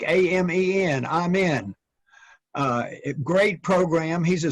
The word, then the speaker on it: Amen: Daniel Amen, it's pronounced Amen. It's like A-M-E-N, Amen.